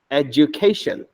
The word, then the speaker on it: education: correct pronunciation is eation education understand so the DU here is pronounced as J J all right education